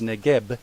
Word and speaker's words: Negev: often called simply the neive therefore this region can be called the biblical neiv pronounced neb in many English translations